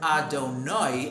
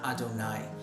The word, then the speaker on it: Adonai: An Ashkenazi Jew pronounces that with oi, as in oi, oi, oi, whereas a Sephardi Jew pronounces it as I.